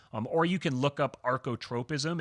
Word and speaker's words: archotropism: If you want to learn more about the laws of archotropism, just look in the show notes on the